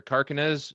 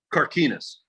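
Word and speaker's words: Carquinez: the car i always i don't pronounce that right the car or carnes or carcanez how do you say that don carquinas carne carquinas bridge and he said yeah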